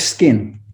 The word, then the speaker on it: SQN: get everybody in is what does sqn mean i say sqn is it skin how do we say it right and where's the name come from it's it's skin the name is skin and the reason i